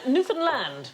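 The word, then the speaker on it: Newfoundland: on this show um Newland is the correct pronunciation and in 1876 a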